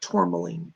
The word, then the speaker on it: tourmaline: Black tourmaline. Look that up and get that for him. It's spelled T-O-U-R, like Tor, Maline, M-A-L-I-N-E, black.